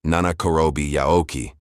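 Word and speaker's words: 七転び八起き: juan bi bo chi ki, and it is pronounced nana korobi yaoki.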